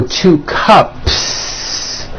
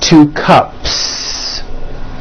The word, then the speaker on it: cups: Well then if you add an S to the word cup to make it plural, the S you add also remains unvoiced. So for example, you have 1 cup or 2 cups. There's no voicing at the end of that word. The S remains unvoiced.